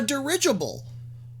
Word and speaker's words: dirigible: Like, why would you call it a dirigible? It just sounds like a drunk person mumbling. Dirigible. Dirigible. Okay, it literally sounds like you're saying "the original," and then say it like drunk and fast.